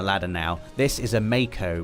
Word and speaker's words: Mako: now this is a Mako reactor Dave officially pronounced Marco right but I've always I've would pronounced it I was about to say officially it is Marco doe and you can